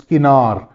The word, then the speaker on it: kinar: If I ask Zain to please pronounce the outer edge of the tabla, which is skinar.